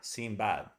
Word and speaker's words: Sinbad: Sinbad. See, not Ia, Sinbad. Sinbad. Ah. That's the English vowel, the cat vowel.